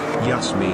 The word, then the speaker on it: Yasmin: The original Dutch pronunciation of her name is Yasmin.